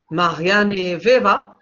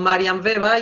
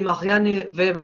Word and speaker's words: Marianne Weber: Hoy vamos a hablar de otra de las fundadoras de la Sociología, Marianne Weber, en andaluz diríamos "Marian Veba" y nos quedaríamos tan contentas. Entonces, intentaremos respetar la pronunciación del nombre.